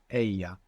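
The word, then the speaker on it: ella: word for she is Aya a a now this is spelled e l l a double l in Spanish is pronounced y a so if you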